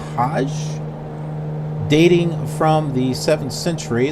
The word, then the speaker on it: Hajj: Only Muslims are allowed in the city, with millions arriving for the annual pilgrimage, pronounced Hajj.